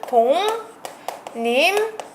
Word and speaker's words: 동림: 인왕리 이렇게 쓰셔야 되고요 동림은 발음은 동님 문 이렇게 되는 거